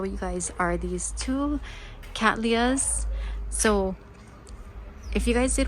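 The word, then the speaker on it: Cattleya: showroom and even though somebody at olomana told me it's pronounced Catalia um their pronunciation at akasuka was Kat Leah so I don't know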